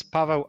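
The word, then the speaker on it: Paweł: My my correct pronunciation from Polish is Pavo and.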